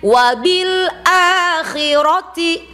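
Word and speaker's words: وَبِالْآخِرَةِ: A panjang pendek? Panjang. Ada tanda panjangnya. Di atas apa? Alif wabil a di atas patah berdiri kan namanya mad badal. Khi panjang pendek? Pendek. Ro pendek ti pendek. Jadi bacanya wabil akhirati. Ayo wabil akhirati.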